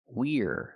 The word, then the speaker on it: we're: We have the action we are pronunciation we're make the contraction we're we're going to go. I cannot say we going to go. We need that R sound. We're going to go.